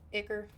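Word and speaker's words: Ichor: Is that how you pronounce it? Icor or Iker? Iker. That sounds like Ick, not Ike.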